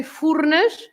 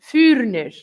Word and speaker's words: Furnas: So, for example, we say "furnas," and they say kind of vuurnis.